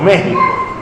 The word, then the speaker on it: México: ejemplo usted ve que se escribe México y decimos México por qué Porque está